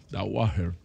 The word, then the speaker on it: Dauhajre: en particular saludar a andy de ajuar que está con nosotros dahuajre así es como se pronuncia baje la guardia está